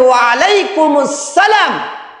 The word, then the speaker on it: ওয়ালাইকুম আসসালাম: জবাব হচ্ছে ওয়ালাইকুম আসসালাম অনেকে অনেকেই বলেন ওয়ালাইকুম আসসালাম সঠিক উচ্চারণ হচ্ছে ওয়ালাইকুম আসসালাম অনেকেই সালাম দিতেও পারে